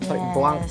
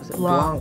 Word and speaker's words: Blanc: Blanc ya bacanya. Blanc. Maaf banget ya bahasa Prancis.